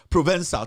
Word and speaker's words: Provençal: I see the name is pronounced Provençal. The C is pronounced S. Provençal.